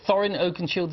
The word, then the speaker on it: Thorin Oakenshield: You playing Thorin, is it Thorin Oakenshield, is the correct way to pronounce it? Thorin Oakenshield.